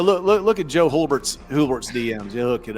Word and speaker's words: Hulbert: By the way, I know you always doubt the pronunciation my name. I get it's a weird name. It's Hbert.